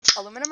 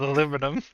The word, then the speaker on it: aluminum: How do you say aluminum? Is it like aluminum or aluminium? Australia gas ladder at this. So Australia says aluminium but Larissa says aluminum.